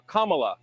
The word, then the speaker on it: Kamala: um hosts on Fox her name is pronounced comma like the punctuation mark La Kamala okay seriously I've heard